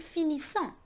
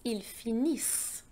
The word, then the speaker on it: finissent: And here it is not ils finissant, it's ils finissent. The ENT is silent. Ils finissent. It is a mark of the plural.